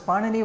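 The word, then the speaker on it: Pāṇini: So if you look at pardon me um if you want the diritical markers then so it's pronounced as panini one of the earliest Sanskrit grammarians well some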